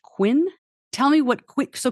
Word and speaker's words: Qvin: Gonna Last and finally the company is pronounced Quinn tell me what qu